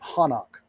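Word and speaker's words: Hanokh: It was told in it was told by the early Hebrews as Enoch. They pronounced it Hanok.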